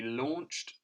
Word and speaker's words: launched: those aw sounds then the first one we've got is in launched and we've got an au making the all sound here now the next